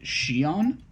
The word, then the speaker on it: Xion: So they sort of try to create a clone of Roxas named Xion, Xion.